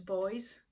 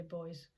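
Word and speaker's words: Boyes: I'll head off to Boys. I'm in Yorkshire, so in the UK. So that's B-O-Y-E-S. I don't know if you say it like that. I say Boys.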